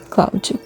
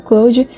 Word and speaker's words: Clawd: Cloud, eu acho que é Clou. É Clou. Eu tava pensando na pronúncia, mas é Clou mesmo.